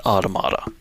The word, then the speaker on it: Automata: at one point the game officially calls it automata automata so if you want to go by the actual game that is the correct pronunciation but I will always say automata near automata onomatopoeia yeah um but yeah so